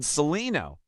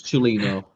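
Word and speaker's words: Cellino: A poor Rads or a white powder fueled Celino? He's working on his Italian pronunciation. It's Chilino.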